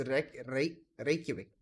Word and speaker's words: Reykjavik: Over here, I've got the Masters Reykjavik.